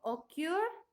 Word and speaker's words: occur: Tengo occur y permit. Estos verbos son de 2 sílabas, como dice acá. Y la última sílaba tiene el estrés de voz, ¿ya?